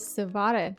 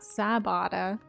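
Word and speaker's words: Sav'otta: Good morning. Is Savada, not Sabata. Boys are vo. Not B, no B.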